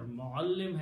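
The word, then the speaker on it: مُعَلِّم: Muallim has a shadda in the middle.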